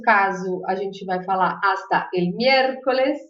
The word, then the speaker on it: hasta: O que significa hasta? Hasta significa até, tá bom? A gente já viu que o H a gente não pronuncia nunca, então vai ser até. Hasta.